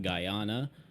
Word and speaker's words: Guyana: It is pronounced Guyana.